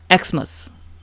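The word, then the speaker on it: Xmas: यह है ना एक्सस यानी कि यह एक्स मस एक्सस एक्स मस तो एक्स आपका कंसोनेंट है लेकिन ये वोवेल साउंड निकाल रहा है तो एन लगेगा एन एक्समस एन आर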